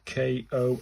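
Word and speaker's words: こ: And then I've got the final fifth one, which will be the Ko as in for core.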